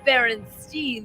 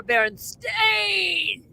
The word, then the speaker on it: Berenstain: In a world where the bears were not pronounced Berenstein, they were Berenstain.